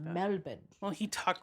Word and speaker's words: Melbourne: Today we're in Melbourne. Ooh. Melbourne. Isn't that how you say it? Melbourne. Melbourne. Melbourne. Yeah, I think it is. I don't think you're supposed to say the R.